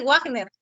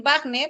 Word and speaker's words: Wagner: verdad okay Bueno seguimos Ahora hay palabras del alemán que se escriben con doble v pero al momento que lo vas a pronunciar eh lo pronuncias como si fuese la vil Vial entonces nadie dice Wagner o watio no vas a decir Wagner o vas a decir batio o esta marca de carro